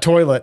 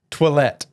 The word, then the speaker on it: toilette: eau de parfum Roday toilet toilet toilet it's not toilet it's toilette I think it's how